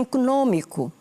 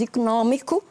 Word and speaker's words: económico: Os brasileiros dizem econômico, dizem acadêmico. E nós não dizemos econômico nem acadêmico, nós dizemos económico e académico. O acento é agudo.